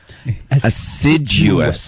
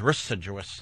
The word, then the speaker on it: assiduous: All I know is whenever you say the word, you have to pronounce every letter. Assiduous. I thought it was residuous.